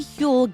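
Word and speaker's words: Huel: Getting the kids ready for school, squeezing in a fourmile walk before my production meeting, grabbing my Hule Black Edition saves my mornings.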